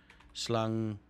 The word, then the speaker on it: slang: which is a snake slang which is essentially pronounced slung no slanger are snakes